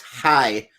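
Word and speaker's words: はい: Yes is hi, spelled H-A-I.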